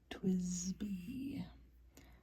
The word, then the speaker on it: TWSBI: So you pronounce it Twsbi. That's how I've learned to say it from the stationery store where I buy these pens.